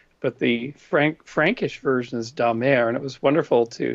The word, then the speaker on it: Damer: depict my ancestors, because the pronunciation of my last name is actually Damer, of the sea. And it was the Vikings who invaded northern France and then moved into England. So the Anglified version is Damer, but the Frankish version is Damer.